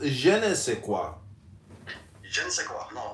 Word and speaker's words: je ne sais quoi: It is pronounced je ne sais quoi.